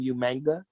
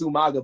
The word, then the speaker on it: Umaga: Like William Regal would always call him Umanga. Oh yeah. Yeah. And his original manager Armando Alejandro Estrada always would say his name Umaga. Haha. And it was always the haha was always attached. Like, yeah, I know it's Umaga, but everyone who was